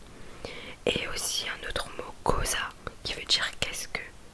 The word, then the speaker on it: cosa: Et aussi un autre mot, cosa, qui veut dire qu'est-ce que, non, qui veut dire qu'est-ce, donc ça s'écrit C-O-S-A, donc le C et le O ça fait co.